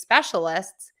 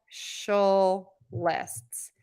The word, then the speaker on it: specialists: a lot of people so in this case Specialists is Specialists Specialists you can also think about it again people think about these slightly differently social lists is another way to